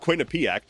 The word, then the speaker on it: Quinnipiac: And despite Zohran Mamdani having a double-digit lead in the polling, despite Quinnipiac, which, by the way, apparently is pronounced Quinnipiac, despite Quinnipiac putting out